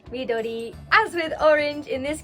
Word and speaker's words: midori: green how do you say green in japanese midori midori as with orange in this case you would